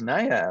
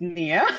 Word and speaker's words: Nia: person I see is Nia what's up Nia hi um it's Nia sorry my name is Nia sorry thank you for